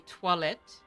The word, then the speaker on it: toilette: You mean toilette, the French pronunciation.